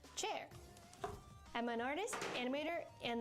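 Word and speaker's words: Qier: Hi, I'm spelled Q I E R pronounced chair.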